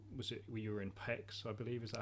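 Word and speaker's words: Pécs: I'm thinking of the actual, was it, you were in Pex, I believe, is that how you pronounce it? In Page, yes.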